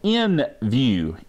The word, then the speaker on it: NVU: came out with one called in view nvu is the way it's spelled and I made that